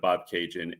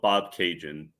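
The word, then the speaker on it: Bobcaygeon: I just mentioned the town of Bob Cajun, and I feel like mentioning Bob Cajun is like a cultural reference that Canadians get that people don't necessarily get.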